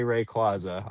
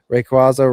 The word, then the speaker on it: Rayquaza: Plenty of people pronounce it both ways but the correct way is Quay.